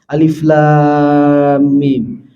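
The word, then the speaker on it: الم: riba Fih hudallil Muttaqin rangkaian huruf alif lam dan mim kita baca Alif Lam Mim Coba lihat Pak itu huruf alif lam dan mim kita ikut aturan Allah bacanya Alif Lam Mim gak kita baca Alama betul ustaz bacanya gimana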